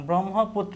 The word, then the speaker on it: ব্রহ্মপুত্র: fatty বাধা বাবড়ি চুল ব্রহ্মপুত্র শব্দের সঠিক উচ্চারণ ব্রহ্মপুত্র এইযে এখানে তৈরাফুলার উচ্চারণটা একটু খেয়াল করব তরাফুলার উচ্চারণের ক্ষেত্রে আমরা কি জানি যে ততরাফুলকার এভাবে কিন্তু উচ্চারিত হয় যেমন ছাত্রের উচ্চারণটা দেখ এইযে কি হয় ছাত্র অর্থাৎ তয়রাফুলার উচ্চারণ করি আমরা তয়রাফোলা ওকার এখানে তয়রাফোলা ওকার কিন্তু একটাই আছে বিলাসী গল্পটি প্রথম প্রকাশিত